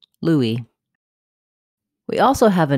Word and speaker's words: Louis: comom presents how to pronounce Louie in English and in French in English this name is pronounced Louie with first syllable stress the S is silent Louie we also have a